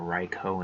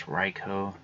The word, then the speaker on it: Raikou: And I'd pronounce Raikou the same as Raichu, but then switch the CH with a K.